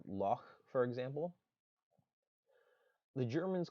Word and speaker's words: loch: few have it uh it shows up in scottish versions of english uh like with the pronunciation of the word loch for example the germans